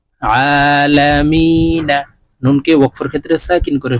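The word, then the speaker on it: العالمين: আলা মিম ইয়া জের মি নুন জবর না আলামিনা নুনকে ওয়াকফুর ক্ষেত্রে সাকিন করে ফেলবো এখানে মি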